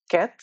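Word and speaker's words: quatre: pronunciation হলো তো four four এটার প্রোনাউনসিয়েশন হলো ক্যাথ ফোর ক্যাথ তারপরে হলো ফাইভ এটার প্রোনাউন্সিয়েশন হলো স্যাংক সো ফাইভ এটা হলো স্যাংক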